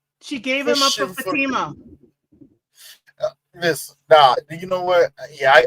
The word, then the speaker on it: Fatima: It's a Fatima or Fatima? It's Fatima. It's pronounced Fatima.